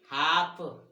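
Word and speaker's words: half: देखो तो क्या बताया नियम में कि एल के बाद कोई व्यंजन हो तो एल का उच्चारण नहीं होता। कैसे नहीं होता तो देखो, इसको क्या पढ़ेंगे, काफ, फिर योक, फिर हाफ, बॉक, talk, palm, could, should. अब यहाँ पे देखिए तो एल यहाँ का उच्चारण नहीं किया हमने। अब यहाँ पे इसको हमने बाल की नहीं बोला, इसको हमने टाल की नहीं बोला, इसको हमने साल में नहीं बोला, यानी एल साइलेंट है।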